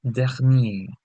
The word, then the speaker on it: dernier: Now, if you notice, I'm saying dernière, whereas when I say dernier, there's a difference in this pronunciation. This is dernière, dernier, dernière.